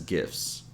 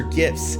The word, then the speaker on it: gifts: we usually don't pronounce the tea we usually pronounce it as gifts let me show you some examples that's why it's not about me or my talents are gifts the many gifts my mother gave me was